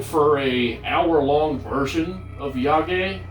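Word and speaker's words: yagé: a hour-long version of yage or yayage i think it's yage actually because they pronounce it that way in the out so yeah it is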